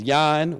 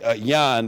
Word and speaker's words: Jon: right my name is Yan with a J spell j-o-n and look at that it's even confusing in saying my name it's pronounced Yan but it's spelled j-o-n so to get that